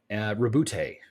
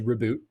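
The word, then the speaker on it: Roboute: Rabute is how you actually pronounce that.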